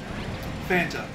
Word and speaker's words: Fanta: Fanta. Right? Fanta. It is spelled F-A-N-T-A. Yeah. Oh no. Don't fucking say Fanta. Fanta. It is Fanta. It has an A. It is pronounced with said A.